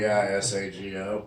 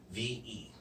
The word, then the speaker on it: Vesago: Did you spell it right? I don't know. Probably. Visago. Nope. Vesago.